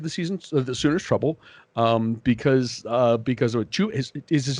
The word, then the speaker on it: Chuba: They are built to give the Sooners trouble, because of Chuba. Is his name Chuba? Is that how you pronounce that? Chuba Hubbard? No, it's Chubba Hubbard. Hubbard? Okay. It's just like Chubby Bunny.